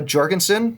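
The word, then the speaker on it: Jorgenson: We had Matteo Jorgensen, that's with a J. There's video of him saying it when he's like 12, so I'm going to say that's how you say it.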